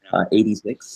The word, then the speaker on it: ADVI: It's spelled ADVI, but it's pronounced 86, like AD, Anno Domini, and then VI, Roman numeral 6.